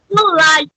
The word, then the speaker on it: Lagiou: So, without further ado, please help me welcome the mistress of the night, Miss Andry Lagiou, or how do you say your last name? Lagiou.